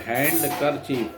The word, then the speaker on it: handkerchief: He had his number 2 handkerchief Handkerchief, Handker, handkerchief, but pronounced handkerchief. D silent.